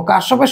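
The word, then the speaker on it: Kirchhoff: লটা এপ্লাই করবো তো কারসপের সূত্র বা কিচব যেটাই বলো যেভাবে উচ্চারণ করো এটা আমরা চলতড়িতে সাধারণত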